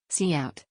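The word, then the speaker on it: cout: point of any c plus program line four C out pronounce c out is an object used together with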